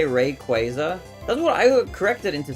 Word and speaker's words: Rayquaza: You know, some people say Rayquaza. That's what I corrected into saying. Isn't that like the correct pronunciation or something? Wasn't there like some recent thing? Because I thought it was Rayquaza, but then I got corrected.